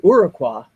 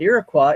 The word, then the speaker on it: Iroquois Falls: Pronounced locally as Iroquois, not Iroquois, it's about half English speaking and half French.